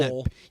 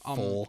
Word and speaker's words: Pfohl: the PF sound? It's just an F. Pretend Pfohl. pretend that P is not there. It's just Pfohl.